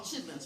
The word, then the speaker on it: chitterlings: Isn't it spelled chitterlings? What we call them chitlins, right? Chitlins. But it's spelled chitterlings, right?